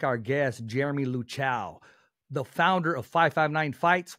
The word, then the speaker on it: Luchau: It's LUCHAU. LUCHAU. Oh, okay. As in like a cow, as in moo.